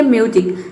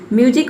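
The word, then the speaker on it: music: तो ये कहीं कहीं पे हम यू को ऊ प्रोनाउंस करते हैं या फिर यू प्रोनाउंस करते हैं। जैसे कि यहाँ पे देखिए म्यूजिक, म्यूजिक मुझसे होता है संगीत।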